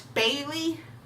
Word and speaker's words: Bailey: And because my name is Bailey, it rhymes with Haley, Kaylee, Gailey, and whatever else that has Ailey at the end.